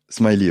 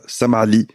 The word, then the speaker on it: Smiley: La prononciation française, c'est Smiley. Ah ouais? Ouais. Les Français disent que je m'appelle Smiley. Son nom de famille, c'est Smiley. Mais en Wow. Tunisie, je suis Samali avec le A.